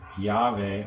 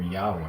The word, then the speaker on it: Yahweh: don't understand that George the name Jehovah was actually a mispronunciation a Yahweh or Yahweh me so this is